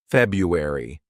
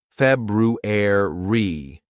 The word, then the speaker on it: February: This actually a word that's mispronounced by lots of students because they sometimes say February. It's not Febru. It's February reair ruer.